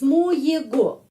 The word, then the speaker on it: моего: Kita menulis моего. Tapi G pengucapannya V. Karena ada tradisi, tidak karena ada peraturan. Tidak ada peraturan. Karena sudah tradisinya.